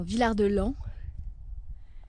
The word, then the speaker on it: Villard-de-Lans: Pardon, Villard-de-Lans. Ils sont bizarres à pas prononcer les S. Enfin moi j'ai habité à Oulin et on disait pas le S.